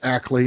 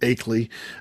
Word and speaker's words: Ackley: of the time uh it's pronounced Ackley instead of acley and uh but I